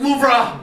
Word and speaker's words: Louvre: It's pronounced Louvre.